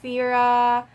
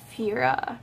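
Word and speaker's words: Phoera: I also order the Fira it's spelled like this pH o e ra and I choose to read it as Veera just because like Phoebe we're a Fira okay so this is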